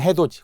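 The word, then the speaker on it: 해돋이: 표준 발음법 다 배웠고요 역시 표기는 해도이 발음은 해도지 그럼 해도지 발음대로 쓰면 되겠죠 끊어서 보니 해도지가 되겠군요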